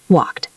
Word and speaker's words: walked: If the word ends in a voiceless sound like P, K, F, S, CH, or SH, we pronounce ed as a T sound. Walked.